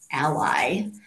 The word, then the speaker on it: A11Y: Y inaccessibility um and it's sometimes pronounced Ally um so that you